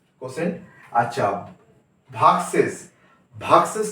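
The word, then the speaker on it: quotient: আই ভি আই ডি ই এন ডি ডি উচ্চারণ হবে এখানে ডিভিডেন্ড ডিভিডেন্ড কে বলবো আমরা ভাজ্য আচ্ছা ভাগফল ভাগফল হচ্ছে কোশেন্ট কিউ ইউ ও টি আই এন টি কোশেন্ট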